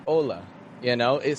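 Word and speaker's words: hola: would say that word whereas a Mexican would say Ola Ola it's not strong weak but it's two kind of strong syllables and that's such an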